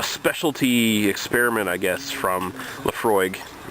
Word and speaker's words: Laphroaig: all right this is laphroaig i la single malt scotch whiskey i know the pronunciation seems weird but it's gaelic so you have to